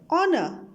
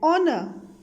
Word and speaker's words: honor: sounds like are honest honor here h is silent so these words sounds like the words starting with the vowel so we use an for such words and are an honest man and honor special case for vowels